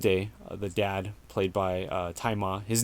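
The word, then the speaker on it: Tzi Ma: And the main character in the present day, the dad, played by Tai Ma. His name is spelled Tzai Ma. I always thought it was Zima, but it's actually pronounced Tai Ma.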